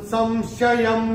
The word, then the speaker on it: संशयं: तो अनुस्वार के बाद य आएगा तो अनुस्वार का उच्चारण होगा म। ये भी हम अपनी किताब में नोट करके रख सकते हैं। तो ये कैसे बोल रहे हैं? छित्वैनम संशयम योगम।